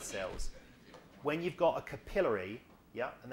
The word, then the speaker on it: capillary: When you've got a capillary, yeah, and that's the right way to say it, not capillary, but capillary.